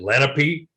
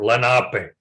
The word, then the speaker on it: Lenape: the Lenape, Lenape, and that's the way it's pronounced in our language. I know back east, there are many places they pronounce it Lenape, but in the language, the traditional language, we are Lenape.